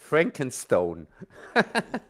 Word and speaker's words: Frankenstein: Hey, then say it in English. Frankenstone. Yeah. We just call it Frankenstein. It hasn't got that beautiful German inflection on it. You know, we can't say it properly.